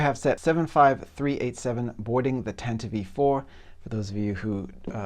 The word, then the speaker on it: Tantive IV: All right, so here we have set 75387 boarding the Tantive IV. For those of you who think that's a weird pronunciation, yes, that is canonically the way that the ship's name is pronounced.